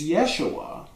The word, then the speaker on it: Yeshua: name in Hebrew is Yeshua which begins with a y um and but that